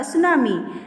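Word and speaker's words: tsunami: यहाँ पर बच्चों आपको टी दिखाई दे रहा है लेकिन यहाँ पर ये टी साइलेंट है, ध्यान रखना।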